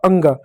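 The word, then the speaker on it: ङ: अंग जो होता है इसका अंग में अ नहीं होता, ग भी नहीं होता है। बीच में जो बच गया वह य होता है। लेकिन उसका हम उच्चारण नहीं कह सकते हैं। इसलिए सुविधा के लिए उसको अंग पढ़ते हैं।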